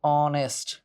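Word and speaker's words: honest: দেই অনারস ঠিক আছে তারপর হচ্ছে অনেস্ট এই যে ও দিয়ে উচ্চারণ শুরু হচ্ছে না এয়ার তারপরে আওয়ার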